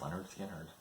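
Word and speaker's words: Lynyrd Skynyrd: My wife and I really like Leonard Skinner, especially the first couple of albums. So got Leonard Skinner, pronounced Leonard Skinner.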